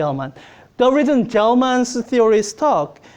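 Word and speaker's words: Gell-Mann: The reason a gel ke anybody know how to pronounce this name? No, I'll just going to say gelman.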